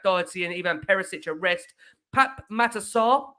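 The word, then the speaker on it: Pape Matar Sarr: and Evan perisic arrest Pap matasar we've been told by Ali that is the pronunciation Pap matasar made his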